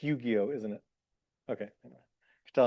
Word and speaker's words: Yu-Gi-Oh: Please UG not UGI UGI and certainly not UIO. Am I even pronouncing? It's Yu-Gi-Oh, isn't it?